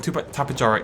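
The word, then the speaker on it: Tapejara: And Tapajara is how you pronounce it. I know I say Tapajara all the time, but it is a harder J.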